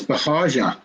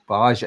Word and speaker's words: Bahaja: It's Bahaja. Bahaja. It's not a guttural G.